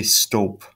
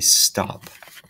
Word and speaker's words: stop: consonant vowel consonant and when I say this word stop I don't say Stolp I say stop so the the vowel sound is a short off stop right because of that